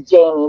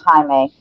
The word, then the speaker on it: Jaime: because i always apologize some people read it as jamie but it's actually pronounced jaime um that's my husband